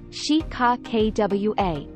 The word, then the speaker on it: Chicaqua: The word is Chicaqua, pronounced as Chicakwa.